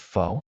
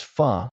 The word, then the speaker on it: pho: Imagine you're dining out and someone says, "Is it fo?" You reply, "No, it's fu."